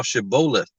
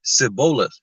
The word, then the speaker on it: Shibboleth: Then said they unto him, Say now Shibboleth. And he said, Sibboleth, or Sibboleth, for he could not frame to pronounce it right.